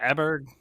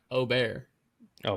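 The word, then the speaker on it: Åberg: Mark said his name you know how to pronounce his last name uh is it aberg no it's Oar o that's the correct pronunciation is O we in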